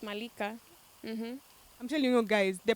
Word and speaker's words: Malika: i thought that was the coolest way we'll pronounce it malika yeah it's malika i'm telling you guys the pleasure that i'm